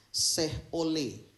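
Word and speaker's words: Sheol: soal neraka bahasa aslinya ini adalah SEO ya Seoul Kalau nggak salah bacanya itu gitu ya harus diketahui cara bacanya itu Syekh oleh gitu dia makanya kita perlu kitab Ibrani Bapak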